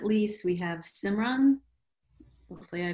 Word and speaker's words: Simran: you and last but not least we have simran hopefully i pronounced that correctly oh yes you did thank